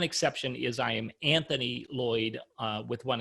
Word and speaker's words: Loyd: So the only trick is my last name is spelled with one L. So Loyd is Lloyd.